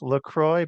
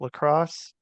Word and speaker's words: LaCroix: The that people pronounce LaCroix, but it's lacrosse, and it was made there.